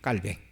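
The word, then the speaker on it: Calvin: 그러니까 어 우리가 보통 칼빈 그렇게 얘기를 하지만 칼빈이 프랑스 사람입니다. 그래서 프랑스 식으로 어 칼빈을 발음을 하면 깔뱅이 돼요. 깔뱅.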